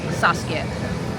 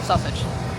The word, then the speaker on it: Saskia: To the people who read the stories, slow down a little bit, and it's pronounced Saskia. Yeah, not sausage, or Saskia.